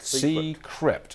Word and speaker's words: Seecrypt: Have I pronounced it correctly? Correct. Seecrypt, okay?